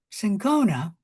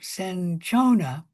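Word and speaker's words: cinchona: The first antibacterial not antimicrobial drug ever discovered was quinine which came from the bark of the tree sincona or also senchona. Both pronunciations are correct.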